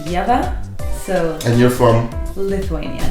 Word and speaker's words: Ieva: like Lea or yava I've I've gotten like Java like software see there's also beer yes no but it's pronounced yea so and you're from Lithuania okay you know